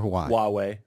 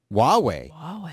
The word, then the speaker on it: Huawei: Do I say Huawei or Hawaii? Huawei. Yeah. Well, that's a you definitely wouldn't know it by looking at those letters organized that way, Huawei. But that is how you pronounce that word.